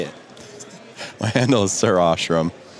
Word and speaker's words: sirashrum: My handle is sirashrum. Most people say sriracha because they can't figure it out, even though there's like no C's or A.